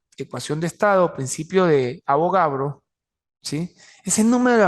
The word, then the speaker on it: Avogadro: entonces la hipótesis es abogado Perdón avogadro Así que pronuncia avogadro sí volúmenes iguales de